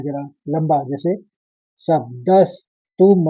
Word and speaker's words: शब्दस्: फिर ऐसे ही शब्दस, दो स का उच्चारण भी आएंगे। शब्दस, क्योंकि द के ऊपर भी आघात है और स्व वाला शब्द है आगे।